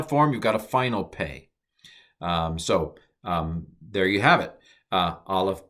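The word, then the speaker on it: פ: When it doesn't have the dagesh, I pronounce it F. So P, F. And the name of the letter is pay.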